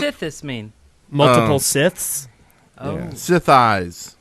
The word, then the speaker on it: Sithis: Sith eyes. Yes. I was like, Swatter. Rhymes with the floor. thighs or your eyes.